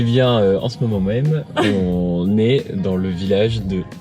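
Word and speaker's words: Å: Eh bien, en ce moment même, on est dans le village de A. A. Je crois qu'avec le A, avec le cercle au-dessus, je crois que ça se prononce O.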